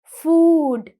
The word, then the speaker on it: food: பட் ஃபுட் வந்து actually சரியான உச்சரிப்பு ப்ரொனவுன்சியேஷன் வந்து அது லாங் வவல் சவுண்ட் தான் ப்ரொடியூஸ் பண்ணணும். ஃபுட்.